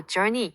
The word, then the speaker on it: journey: 또 journey, 여행은 우가 쓰였지만 전이처럼 발음되죠.